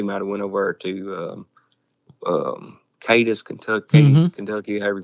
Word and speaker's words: Cadiz: I think they might have went over to Cadiz, Kentucky, however you pronounce it. And, they say Cadiz over there, but if you go to Ohio, it's Cadiz.